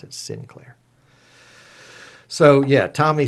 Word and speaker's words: Sinclair: it's Tom and and the proper pronouncing a pronunciation of my name is Sinclair so I would say my name is Tom synclair so everybody called me oh mr Clare yeah come over here no no no it was so i had to mispronounce my last names so that it would get understood so it's Tom Sinclair